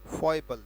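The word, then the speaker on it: foible: उच्चारण क्या है? फॉइबल। लिख देते हैं उच्चारण को, फॉइबल।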